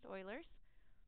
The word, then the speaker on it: Euler: or looks like Euler's it's pronounced oilers and that says if